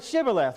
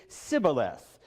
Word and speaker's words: Shibboleth: Can you say the word Shibboleth? Well, unfortunately for a lot of the Ephraimites, for apparently 42,000 Ephraimites, they could not pronounce the word. They would pronounce it Sibboleth. They couldn't get the H sound and instantly were killed on the spot.